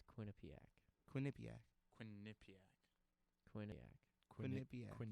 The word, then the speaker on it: Quinnipiac: say it though it's Quinnipiac Quinnipiac Quin Quin Quin the accent the uh emphasis is on the and Quin not you do quinc it's quinc